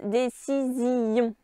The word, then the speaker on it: décision: Donc elles se trouvent dans le mot tuer qui ici se prononce tuer et dans le mot décision qui en poésie se prononce décision.